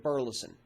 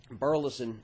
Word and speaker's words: Burleson: spell it for you burleson b it's really just as it sounds or just like the town up in north texas but if you look at burleson there's only one degario